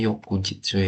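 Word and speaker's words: 翌日: Bacanya Yokujitsu ya.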